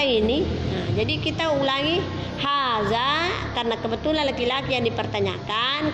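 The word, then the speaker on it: هذا: Kalau di bawah ini menunjukkan perempuan, setelah haza ditambah ha, itu bunyinya hazihi, itulah yang membedakan. Kalau yang di atas man haza hanya berakhiran alif, maka bacanya haza, kemudian yang perempuan hadihi.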